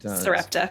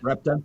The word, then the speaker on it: Sarepta: Sarepta. Sarepta.